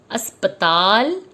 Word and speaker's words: अस्पताल: अस्पताल, इसमें अध स लगा के अस्प करके ताल जोड़ा जाता है और ये उच्चारण में अस्पताल कहा जाता है, जिसको सभी जानते हैं